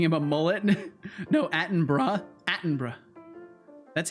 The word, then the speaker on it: Attenborough: Attenborough. That's how it's pronounced? Really? It's Attenborough? In the UK, borough is bruh everywhere.